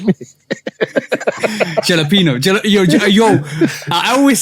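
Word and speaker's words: jalapeño: Because she ain't saying the yo at the end.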